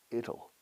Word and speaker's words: it'll: It'll. Así se pronuncia la contracción de it will. Es como little sin la L.